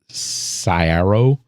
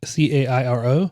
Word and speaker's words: Cairo: you're in Southern Illinois you pronounce it Saro is it c c a i r o yeah yeah it's it's Cairo uh and uh New